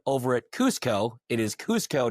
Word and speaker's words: Cusco: It is Cusco, not Cusco. Okay. For anyone that wants to know, it's technically they're Japanese, and it's pronounced Cusco, not Cusco.